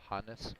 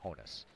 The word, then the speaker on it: Honus: the announcers on there pronounced it properly honest Wagner not Honus so and I called